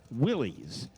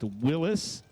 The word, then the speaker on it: Willys: John Willis, who was the Willis Overland Company, went to his grave in 1935 mad because people called his cars Willies. Not the name. His name is pronounced Willis.